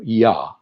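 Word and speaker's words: יה: Yod He Vav He, the Yod He, which the pronunciation we're actually given. It does appear in Torah and in the Hebrew Bible, Yah.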